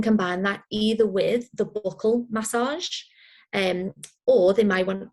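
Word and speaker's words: buccal: then yes we've got the buckle up which is um it's spelled b-u-c-c-a-l and i've called it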